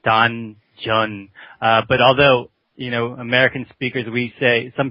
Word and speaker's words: Danjeon: As you know, it's a Korean word, and we pronounce it Danjeon. But although, American speakers, some people hear dungeon when they hear it.